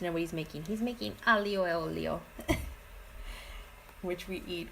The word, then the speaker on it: aglio: it and they're like a Leo le ox they don't pronounce the G in the L so